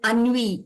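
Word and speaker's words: ennui: pre and the fourth sentence I'd like to say is in literature there is something called ani e n ui okay so if you understand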